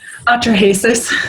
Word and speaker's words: Atrahasis: Atrahasis.